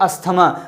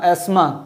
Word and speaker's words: asthma: अस्थमा। और अस्थमा को मतलब असल जो प्रोनाउंसिएशन है उसका एस्मा।